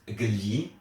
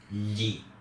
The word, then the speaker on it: gli: It's not pronounced gli, it's gli.